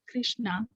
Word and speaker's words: Krishna: is called the maha krishna pronounced krishna in rama rhymes with